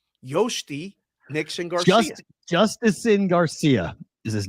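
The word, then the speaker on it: Jhostynxon: Hosty? Yosty? Y. You say J like a Y. Yosty Nixon Garcia.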